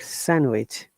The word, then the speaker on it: sandwich: Make sandwich. Remember, D is silent in sandwich, okay? It is not sandwich, it is sandwich.